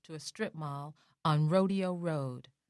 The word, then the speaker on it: Rodeo: My rodeo, although pronounced the way the cowboys do, was no less treasured than Beverly Hills.